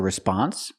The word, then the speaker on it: response: in a few minutes remember response not response but response put the stress on the second syllable this is also not